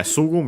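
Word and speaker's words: すぐ: But yeah, Sugu means immediately, at once, right away, and so on. Accent on the first mora.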